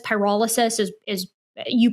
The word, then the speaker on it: pyrolysis: Now granted what I can see here is that um I think I called it pyrolyis. Pyrolysis is is you pronounced it I think in the correct way.